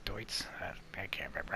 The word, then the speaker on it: Deutz: I keep saying Dudes, but it's Deutz.